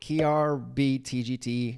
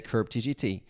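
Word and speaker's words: krbtgt: is hard to pronounce some prefer to call it krb TGT others simply say curb TGT anyways that's why DC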